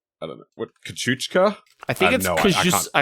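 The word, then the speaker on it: Kościuszko: That's definitely a Polish word, and it's definitely not pronounced Kosciuszko. And yet that's what we call it.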